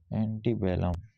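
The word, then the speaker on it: antebellum: बनने वाले शब्द वर्ड्स एंटी बेलम इसका प्रोनाउंस एंटी बलम एंटी बलम एसिस्टिंग बिफोर वार जो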